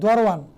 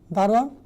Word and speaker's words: দারোয়ান: টিকা দারোয়ান মানে কি দরোয়ান শব্দার্থ টিকা দরোয়ান শব্দের অর্থ কি দারোয়ান শব্দের উচ্চারণ ভেদ দরোয়ান না কি দারোয়ান শব্দের উচ্চারণ ভেদকে দরোয়ান বলে তারপরে কাবুল আফগানিস্তানের রাজধানী কাবুল